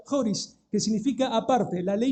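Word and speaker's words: χωρίς: Por eso dice aparte de la ley, esa es una palabra griega que se pronuncia joris, que significa aparte.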